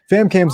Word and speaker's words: FamKam: It stands for Film Animation Music, and the K stands for, my real name, and Cam rhymes with fam.